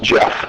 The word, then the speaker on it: Geoff: So it looks like Geoff, but it's actually pronounced Jeff.